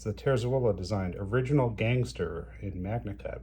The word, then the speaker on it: Terzuola: I'm pronouncing it the way I have heard him pronounce it, Terzuola. 4 syllables. Terzuola.